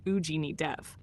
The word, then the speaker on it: Agni Dev: We're talking about Agni Dev, pronounced Ujini Dev, the ancient fire, the